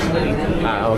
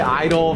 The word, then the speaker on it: idli: That's idli. Okay. So idli. I want to say idol, vidai, and then pongal, but I know the pronunciation is wrong.